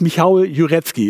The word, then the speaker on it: Michał Jurecki: wir nicht genau wussten wie werden denn nur ausgesprochen jurecki jure michael michael dann hast du noch mal gesagt das ist michal jurecki ist richtig na ja genau so ist wird